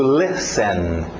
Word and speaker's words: listen: To listen.